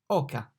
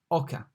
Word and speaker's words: oca: O, oca. The O is pronounced like O in cost, ost, oca.